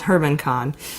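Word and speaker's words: German Khan: of a Russian oligarch named Herman Kahn which is spelled like German Cohn but it's Herman Kahn who runs alpha bank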